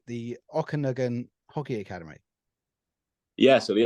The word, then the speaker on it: Okanagan: You've got the hope I'm going to pronounce it right. The Okanagan Hockey Academy. Yeah, so the Okanagan Hockey Academy. Okanagan, there we go.